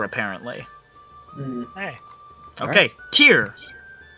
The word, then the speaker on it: Tyre: From the city that is spelled like Tyre, but is definitely not pronounced that way. T-Ray.